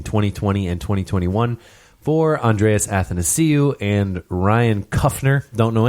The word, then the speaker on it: Athanasiou: He's like, you got to pronounce it as, and nice to see you, is how to...